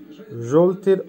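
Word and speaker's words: жёлтый: জলতি, জলতির অর্থ হবে হলুদ, উচ্চারণ হবে জলতি, জলতি।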